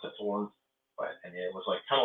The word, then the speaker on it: Saturn: It was by Magix, which was a German company, and I think I walked into there's a place called, it's spelled Saturn, but it's pronounced Saturn.